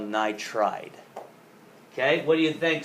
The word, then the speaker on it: nitride: It's not called nitroide, it's called nitride.